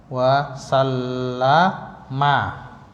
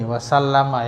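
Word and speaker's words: وَسَلَّمَ: Nah, ini sallallahu alaihi wasallama. Ini bacanya gini, wasallama. Yang belum tahu bacanya ini wasallama. Biasanya kan cuman sallallahu alaihi wasallam. Dia apa? Disukun biasanya gitu.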